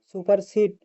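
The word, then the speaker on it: supersede: সুপারসিড সুপারসিড বানানটা একটু দেখে নিবেন উচ্চারণটা হবে সুপারসিড সঠিক উচ্চারণটা সুপারসিড কিন্তু বারণটা হবে সুপারসিডি 10 নাম্বারে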